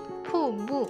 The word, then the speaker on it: 瀑布: So here is the pronunciation you should pay attention to. Poo-poo.